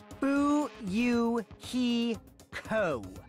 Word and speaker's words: Fuyuhiko: is the snake spider my first name is pronounced boo you he co this is cool of